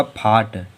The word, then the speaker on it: fought: अब देखो FOUGHT, देखो शब्द के अंत में GST आया तो यहाँ पर हम लोगों का जीएच होगा साइलेंट, और पूरे को पढ़ना तो ये होगा फाट।